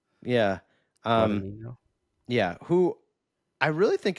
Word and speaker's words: Guadagnino: Guadagnino? Guadagnino? Yeah. Um, Guadagnino?